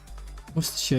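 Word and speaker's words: Worcestershire: Wor sure.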